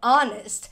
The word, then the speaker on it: honest: o som ou seja o h na palavra ones não é pronunciado o som é de uma vogal Então a gente vai